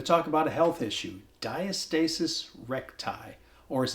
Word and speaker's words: diastasis recti: I think it's important to know how to pronounce the condition diastasis reti diastasis reti diastasis reti diastasis when is the last time you saw